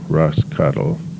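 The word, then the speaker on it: Roscathail: was from Dublin anyway she directed us to Ross cattle told us how the Gaelic name would be spelled it's spelled r-o-s-c-a-t-h-a-i-l and pronounced Ross cattle the English which she told us was also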